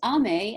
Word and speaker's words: Aimée: think of it as amy but is army because it it is the french pronunciation which always tipples me